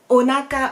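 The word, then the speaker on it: お腹: Ensuite, onaka, le ventre, quand on a bien mangé. Onaka, 3 syllabes, onaka.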